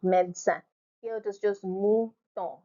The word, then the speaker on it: médecin: And then you have the word médecin, médecin, médecin, médecin, médecin. The second E is silent, médecin.